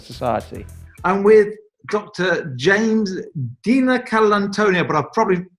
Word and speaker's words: DiNicolantonio: James DiNicolantonio, but I've probably pronounced that wrong, James. How should I pronounce your name? You got that right, DiNicolantonio.